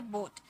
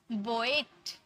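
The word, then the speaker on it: boat: लेकिन ओ ए को भी हम ओ में पढ़ेंगे। जैसे बोट अब स्टूडेंट क्या करेंगे? इसे अगर नहीं पढ़ पाएंगे तो वो क्या करेंगे? बोएट। बोएट ए का साउंड निकालेंगे। बोएट बोट गलत। ओ ए को हम लोगों ने ओ में ही साउंड निकाला।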